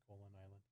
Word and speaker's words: Koholint: I think that's how you're supposed to pronounce it. Koholint Island.